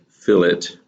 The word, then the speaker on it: fillet: is called a fill-in it's spelled like fillet but it is fill it and it's basically a